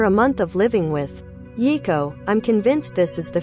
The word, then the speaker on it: Yiko: Rather than pause my well-oiled preschool routine to grab a mop, I simply had to say, "Okay, Yiko." Pronounced E-E-ko.